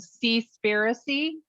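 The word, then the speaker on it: Seaspiracy: on netflix it's called see spirity spell it for me s-e-a yeah conspiracy like conspiracy but it's conspiracy okay very it's it's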